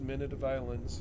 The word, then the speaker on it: Minute of Islands: now that i know how to it is pronounced minute of islands we'll have more of it on friday and